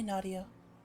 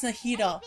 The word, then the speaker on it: Nahida: Hi, Nadia. Nahida, we brought a friend. Oh, it's Nahida. Whoops, I said Nadia. Oh, that's I pronounced it wrong.